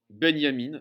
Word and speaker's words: Benjamin: un auteur qui s'appelle walter benyamin ben enfin benjamin quoi walter benyamine ça s'écrit benjamin et ça se prononce comme ça c'est la question que